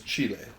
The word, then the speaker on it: Chile: so um in chile is it chili or chile the proper pronunciation is chile chile chile chile but